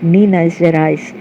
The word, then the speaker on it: Minas Gerais: Pronounced Minas Gerais, Brazil, and was seduced by a red-haired humanoid.